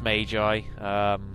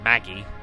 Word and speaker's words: Magi: Yes, it is pronounced Magi. Apparently. I always used to say Maggie, but isn't that the Simpsons character?